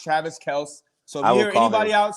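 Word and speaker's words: Kelce: kind of ridiculous but yeah so it's now pronounced travis kels so i hear anybody out saying i'll call him travis kells please if you hear anybody say kelsey mahomes correct him yes my homestead that's how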